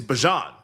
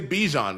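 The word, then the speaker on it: Bijan: Bjan Robinson, which it's Bjon, he told us. Like, don't say Bejon, you're mispronouncing my name.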